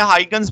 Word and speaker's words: Huygens: ठीक है, तो हिगन प्रिंसिपल क्या कहता है, आप इसको मुख्तलिफ लोग मुख्तलिफ तरह प्रोनाउंसिएशन करते हैं, हाइगन्स भी बोलते हैं, हिगन भी बोलते हैं, तो आपको बस इसके स्टेटमेंट से गर्ज होना चाहिए।